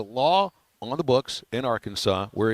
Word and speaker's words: Arkansas: Apparently, there's a law on the books in Arkansas where it's illegal to pronounce the state our Kansas.